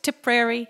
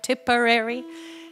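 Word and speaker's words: Tipperary: ones particularly to prairie you can say it any number of ways tip prairie temporary it depends on on the hand you're dealt i suppose but um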